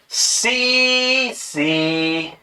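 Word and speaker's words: tsetse: और इसका वाहक सी फ्लाई। टी साइलेंट रहता भी है, सी मक्खी।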